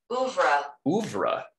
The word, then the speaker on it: oeuvre: In her over, O-E-U-V-R-E. Let's learn together what that word is. The works of a painter, composer, or author. How do you say that? Oeuvre.